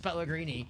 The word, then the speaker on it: Pelini: really pelo it's like why would my last name really be pelino when when it's spelled Pelini pronounced Pelini I don't know uh but